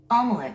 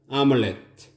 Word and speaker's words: omelette: Omelette. 스트레스가 맨 앞에 있습니다. Omelette.